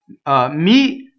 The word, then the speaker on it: mi: Mi is a weak monosyllable, mi, so it does not cause a phrasal doubling.